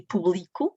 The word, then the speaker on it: publico: E público e publico, do verbo publicar, e trabalharão e trabalharam.